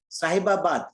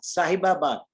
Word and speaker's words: Sahibabad: of your Club I could not hear it sahibabad sahibabad how do you pronounce that s a h i b a